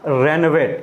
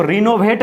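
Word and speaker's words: renovate: रेनोवेट, यानी उस building को रेनोवेट कर दिया गया, रेनोवेट। इसको रिनोवेट नहीं पढ़ना है, रेनोवेट यहाँ पे लिखा हुआ प्रोनाउंसिएशन उसका।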